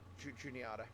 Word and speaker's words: Juniata: We actually drive through Altoona and into the yard at Juniata. Sorry, I can't pronounce the place. Every time I see Juni, I want to pronounce it Juan. Like Juanita Yard, which obviously isn't.